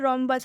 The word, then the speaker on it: रोम्बस: जैसे कि यहाँ पर रोम्बस है, ठीक है, रोम्बस के शुरू में आर एच आया है, आर एच शुरू में रहेगा तो उसे हम र पढ़ेंगे।